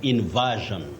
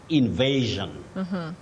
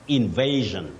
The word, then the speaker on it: invasion: should avoid saying is inversion v no the verb invade to invade then you say Invasion Invasion not inversion okay got it Willis